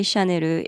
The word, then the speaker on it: Chanel: So, when Japanese people say Shaneru, it sounds kind of like soft and cute, but the image is still very powerful.